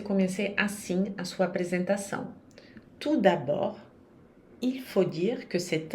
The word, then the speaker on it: tout d'abord: Não se pronuncia nem o T nem o D, tout d'abord.